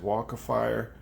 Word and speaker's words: Walkefire: I bought it from an Aliexpress listed as waka fire it's spelled wal ke f ir e i got